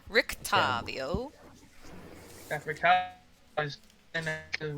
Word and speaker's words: Rictavio: You said that Rick, how's it pronounced? Rictavio. Rictavio.